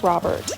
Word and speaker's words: Frobert: Is it Frobert or Frobert? I've heard both. But I would imagine it's supposed to rhyme with Robert, so I'm going to stick with Frobert.